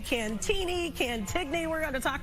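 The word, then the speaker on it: Cantigny: It's Cantini. It's a silent G. It's a French pronunciation.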